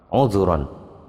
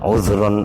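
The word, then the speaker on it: عذرا: yaakulu ngendiko sopo amar uzuron nzur uzuron nudur bacanya itu ditebalkan bukan uzron au nudro kan bukan begitu jadi ditebalkan uzuron au nuduro gitu kalau di al-qur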